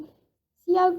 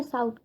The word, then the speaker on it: cout: सी आउट को हम pronounce कैसे करेंगे, सी आउट, ना कि इसे काउट या साउट, ये दोनों चीज़ें गलत होंगी, हमें इसे प्रोनाउंस करना होगा सी आउट।